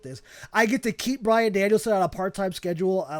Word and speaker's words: Bryan Danielson: Bryan Danielson or Daniel Bryanson? No, Daniel Bryanson is crazy. No, Bryan Danielson.